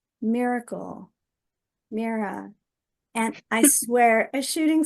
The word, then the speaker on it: Myra: And I'm actually the fifth Mira in my family, Oh, and it's a family name, and it's spelled unusually. It's Myra, but the Y is pronounced like a double E.